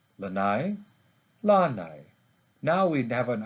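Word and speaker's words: lānai: my back is lanai now to the word lanai do you hear the difference lanai lanai now we have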